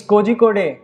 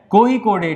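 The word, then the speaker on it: Kozhikode: तो ये next topic है यूनेस्को नेम्स कोझिकोड़े। बेसिकली ये प्रोनाउंसिएशन क्या है, कोझिकोड़े, ठीक है। अगर हम इसको गलत पढ़ेंगे तो कोझिकोड़े बोल देंगे गलती से, जैसे मैंने अभी बोला,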